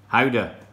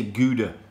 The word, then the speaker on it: Gouda: We need Howda. See, in English we say Gouda, but the Dutch pronunciation is not.